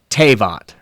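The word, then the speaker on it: תֵּבַת: they're Hebraic characters, and it's pronounced tevat, Tevat.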